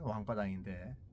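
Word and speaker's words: 王八蛋: 왕바단, 중국어 발음으로 하면 왕바단인데 한문으로 하면 임금왕자 8가지 팔자 그리고 알단자 왕팔단입니다.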